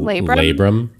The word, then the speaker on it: labrum: me tear my how do you say that labrum labrum okay leading to much pain and eventually hip